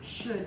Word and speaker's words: should: have the would could should family the L is silent we hear the D